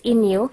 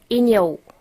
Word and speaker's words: inyo: the yours plural Ino so to pronounce this Inu you know Inu University that's how to pronounce Ino okay you don't say Ino you sound so um um slang okay you say Inu or inua inong inung